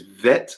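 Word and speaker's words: ב: So Aleph, Bet, without the dagesh in the middle, it is Vet pronunciation.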